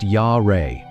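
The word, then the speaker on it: ירא: The driving force behind this decision is the Hebrew root yar, pronounced Yah-Reh.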